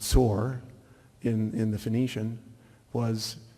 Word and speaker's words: Tyre: antiquity in tear or tyre which is actually pronounced sore in in the Phoenicians was switching over time